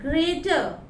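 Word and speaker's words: grater: जब भी लास्ट में कोई भी वर्ड का लास्ट में अगर आर हुआ, लाइक ग्रेटर, स्ट्रेनर, तो हम लोग लास्ट वाले अल्फाबेट को प्रोनाउंसिएट नहीं करेंगे। That's the rule. हम लोग ग्रेटर ट में रुक जाएंगे।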